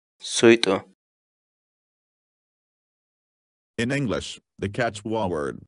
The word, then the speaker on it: suyt'u: of videos where we teach you how to pronounce certain words in Quechua. So our word of the day for today is Suito. Suito. Suito.